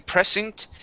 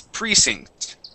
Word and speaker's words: precinct: one second okay so instead of saying Precinct it's Precinct Precinct yeah so the accent goes uh goes at the very beginning on pre Precinct okay try that one